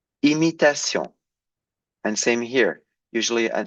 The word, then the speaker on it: imitation: Usually, I told you a double M makes the M, but a single M makes an un. But here it's followed by a vowel, so you pronounce it as an M, as it's written.